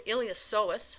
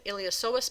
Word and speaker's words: iliopsoas: The iliopsoas muscle, the P is silent, and the iliopsoas muscle is actually made up of two muscles here.